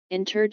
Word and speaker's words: interred: or unrhymed iambic pentameter interred should be pronounced as three syllables not two so let it be